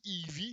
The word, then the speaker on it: Eevee: Ça se prononce bien, Eevee, il me semble. Eevee en français ou Eevee en anglais.